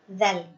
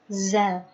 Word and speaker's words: ذ: Kalau dzal itu kan harusnya yang ujung gigi atas gitu, ujung gigi seri atas. Za. Jadi ketika kita keliru, nah itu bunyi hurufnya akan keliru juga. Makhrajnya akan berubah. Yang harusnya dzal jadi zal.